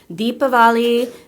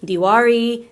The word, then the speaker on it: Diwali: world or in India, it can be correctly pronounced Deepavali, Diwali, Diwali. Diwali. So feel free, you're going to hear people say it in different ways, and it's okay no matter how you want to say it. And just think of it as a local dialect, so you can't mispronounce it. Today I'm going to say Diwali because I was raised in a Marathi household, and in Maharashtra they pronounce it Diwali.